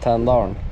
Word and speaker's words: Tänndalen: Tänndalen? Did I say it right? Tänndalen.